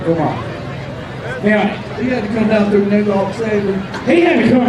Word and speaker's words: Vermont: You got to say it like they say it, Vermont.